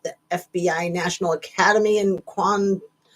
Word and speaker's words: Quantico: FBI National Academy in Quantico Quantico. Is that how you say it? I always want to say Guantanamo Bay, but no, it's it's Quantico, Virginia.